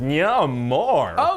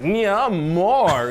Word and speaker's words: Namor: No, I'm gonna pronounce it Namor. Okay, no, maybe there is a wrong way. Like a hungry little kid asking for seconds of his favorite dessert. Namor.